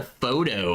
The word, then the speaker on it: pho: Pho, which is pronounced pho, That's right. I knew that. I'd forgotten. is Vietnamese.